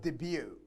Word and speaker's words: debut: next one we have debut debut notice the pronunciation that t is silent we don't say the